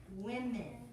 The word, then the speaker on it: women: I'm sure you would spell it right because you know that the singular is spelled with a man and the plural is spelled with men in it. But you guys just need to learn how to pronounce it.